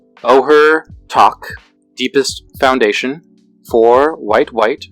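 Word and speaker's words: Ojer Taq: black red green so this one is pronounced Oher talk deepest foundation for white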